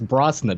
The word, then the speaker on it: Brosnan: that had Pierce Brosnan, I always mispronounce his name, it's Brosnan, right?